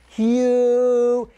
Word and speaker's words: Hu: But saying who or Hugh, it's H-U, Hugh.